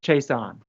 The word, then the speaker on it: Chaisson: for you all's reference it's k levon as in three syllables starts with a k so k levon chase on thanks david i appreciate